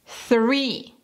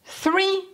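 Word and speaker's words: three: En esta palabra, para pronunciar este sonido, tienes que sacar la lengua y soplar. Eso es lo más importante. Saca la lengua y sopla. Inténtalo junto conmigo. 3. 3.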